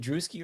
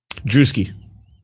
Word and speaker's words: Druski: Is, by the way, is it Duski or Druski? Druski. Oh my god. All right. So, FYI, the video tomorrow, uh, I pronounced it as Drusky the entire time.